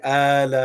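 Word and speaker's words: آلاء: And even if you recite it when you recite in the Arabic, you have to elongate it, right? فَبِأَيِّ آلَاءِ رَبِّكَ.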